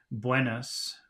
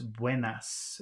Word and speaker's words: buenas: the phrase wardes Wen in the English pronunciation would be Buenas but it's not it's Buenas buenard eard okay and